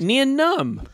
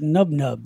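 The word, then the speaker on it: Nien Nunb: How's it pronounced? Nian Nunn. I thought it was like Nub Nub. No.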